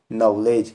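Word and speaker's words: knowledge: पर कैसे साइलेंट रहेगा पढ़ेंगे हम नॉलेज के नॉलेज नहीं पढ़ेंगे बल्कि नवोदय साइलेंट राहत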